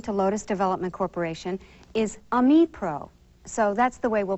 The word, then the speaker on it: Ami Pro: correct pronunciation according to Lotus Development Corporation is Amipro. So that's the way we'll pronounce it during this course.